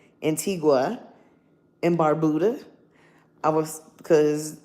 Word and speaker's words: Antigua: Um, the tickets I I had looked even into going to an I always mispronounce the name. Antigga. Antigua in Barbuda.